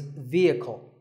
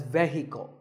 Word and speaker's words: vehicle: the next word is vehicle it's often pronounced wrongly as vehicle but the e is a long vowel and the H is silent so vehicle number eight